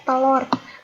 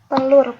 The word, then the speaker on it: telur: Banyak dari kita menyebutnya telur pakai O, padahal sebenarnya hal ini salah. Yang benar adalah telur pakai U.